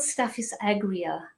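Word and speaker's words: staphysagria: hear but you're going to ask me to spell it and it's really hard even for me it's called St is agria um and it's s t a p h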